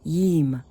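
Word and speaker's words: ים: And the main word is yim. So this is how you pronounce ocean, yim.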